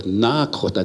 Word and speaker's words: Nakota: And to the east of us, across the Missouri River, they speak with a D, Dakota. And to the north across the Missouri, there's the Nakota, they talk with an N.